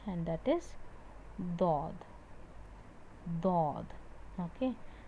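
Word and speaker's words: ض: Obviously, this part of your tongue is touched but not pressed. You're using the edges to perform, to pronounce this letter. Do. Do. Even though this is touching, you are not using that part. Okay. Do. Only one letter comes from the edge.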